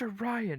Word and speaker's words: Orion: shade of blue um but yeah orans it's pronounced a Ryan and why is your oh my God so